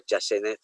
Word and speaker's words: chasteneth: Ang kung kinsag yung authority ana sa pronunciation usay mabasa nako chasteneth lang, silent T.